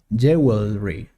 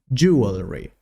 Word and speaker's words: jewelry: 23 jewelry jewelry jewelry it's not jewelry that is incorrect the correct is jewelry for example we have